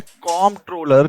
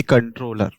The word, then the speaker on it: Comptroller: Clear full form जो है वो है कॉम्प्ट्रोलर, ना कि कंट्रोलर, ओके। लेकिन जो लोग हैं वो इसको कंट्रोलर क्यों बोलते हैं कई बार, बेसिकली ये होती है प्रोनाउंसिएशन की प्रॉब्लम, ऑलराइट।